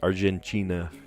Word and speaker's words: Argentina: Brazil we would say Argentina a TI makes a CH sound um a group of